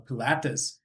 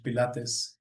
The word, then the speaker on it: Pilates: Maybe they join the gym or a yoga class or a pilatees. How do you say that in English? Pilates. Pilates.